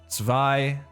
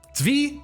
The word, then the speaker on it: Tzvi: We're looking at some demo reel content, some game audio stuff from Tzvi. Tzvi? Is that right? Tzvi Sherman. And Viraj Ramsharan. Tzvi?